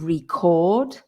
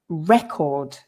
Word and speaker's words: record: for there so the the verb is to record and it's a recording but the physical thing is a record so the stress changes as well on that